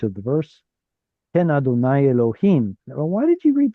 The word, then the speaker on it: Elohim: So Jewish tradition says don't pronounce God's name as it's written. Use some sort of a circumlocution instead. Usually that substitute is Adonai, but when it's in front of the actual word Adonai, then you get a chirik right